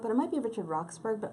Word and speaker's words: Roxburgh: it might be Richard Roxburgh, but I'm going to say it like Edinburgh Theatre Festival.